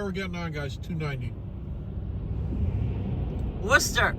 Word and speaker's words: Worcester: Worcester pronounced Worcester Taxman 81c Mary a saw Steely Dan this